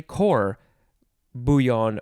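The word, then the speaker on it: court-bouillon: or you can say cor bouyon or buyon it is spelled uh it's two words the first word is spelled like court but you don't pronounce it like court and then the second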